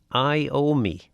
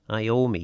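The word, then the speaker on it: Iommi: And his name is pronounced Iomi. Iomi. He's from Birmingham apparently. So Tony Iomi is uh is the uh the fell's name. I owe me according to Griff in Nobles anyway.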